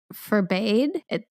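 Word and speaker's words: Furbaide: the baby is alive his name is forbade it's not how you think it's spelled and bbad which is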